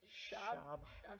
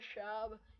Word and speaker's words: Schaub: Schwab? I don't like Schwab. I feel like I'm saying Cotton Schwab. Matt Schaub.